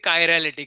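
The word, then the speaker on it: chiral: अब इसको लोग अलग अलग प्रोनाउंस करते हैं, चीरल वीरल प्रोनाउंस करते हैं, ठीक है, इसका एक्चुअल प्रोनाउंसिएशन क्या है? कायरल।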